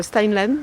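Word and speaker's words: Steinlen: or Sten line yes how do you pronounce it uh stain Len stain Len uh and the Shir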